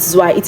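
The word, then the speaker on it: zwei: Please never be tempted to pronounce this word z. Cuz I see so many learners make this mistake. Z. Don't pronounce it z. It is not z. It is zi.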